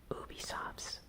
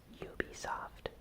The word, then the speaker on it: Ubisoft: Ubisoft's, or Ubisoft's, it's a word that I slightly mispronounce sometimes. I know it's Ubiquitous Games, and it's supposed to be pronounced Ubisoft.